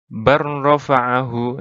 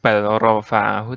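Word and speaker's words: بَلْ رَفَعَهُ: Tulisannya seperti ini, bacanya barrofa'ahu, langsung. Jadi bukan balrofa'ahu, tapi barrofa'ahu gitu.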